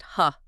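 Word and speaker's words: ห้า: In the Thai language, the number five is pronounced ha.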